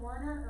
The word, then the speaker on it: Werner: that's a and that was i'm not another werner or verner sometimes you hear it pronounces would be heisenberg so make a note